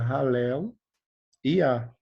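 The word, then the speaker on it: הללויה: Então, aleluia, o que seria aleluia? No hebraico, né, na pronúncia melhor do hebraico, seria Halel Iá. Halel Iá.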